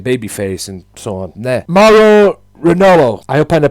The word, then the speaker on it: Mauro Ranallo: There, Mauro Ranallo. I hope I pronounced that right. Former Combat Sport announcer Mauro Ranallo, that's the pronunciation of that.